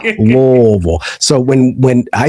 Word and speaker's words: Louisville: because locally we say Louisville. You know, just imagine your mouth is full of hot potatoes and you say it real Louisville.